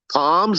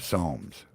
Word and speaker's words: Psalms: then you got uh palms is that how it's pronounced psalms yep psalms um the psalms are